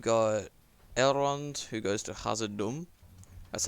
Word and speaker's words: Khazad-dûm: Then you've got Elrond, who goes to Khazad-dûm. That's how you actually pronounce it.